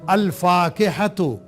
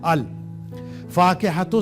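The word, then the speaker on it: الفاكهة: जैसे अल फाकिहतु से हमने कहा अल फाकिहतु, तो लाम को हमने यहां प्रोनाउंस किया है, ये साइलेंट नहीं है।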